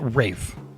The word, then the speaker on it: Ralph: Ray Fi Ralph Fines. Rafe. I never actually he is Ralph, but he pronounces it Rafe.